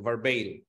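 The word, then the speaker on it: verbale: Note ভার্বাল না কিন্তু ভার্বেইল, উচ্চারণটা মাথায় রাখবেন, ভার্বেইল।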